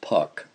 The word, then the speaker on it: pak: At night, they ate pak, pronounced puck, roasted barley flour moistened with Tibetan tea, the simplest of Tibetan foods.